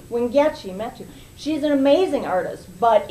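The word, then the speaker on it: Wangechi Mutu: a lot of press and recognition, is one Chengi Metu. Did I say her name? Wingechi Metu.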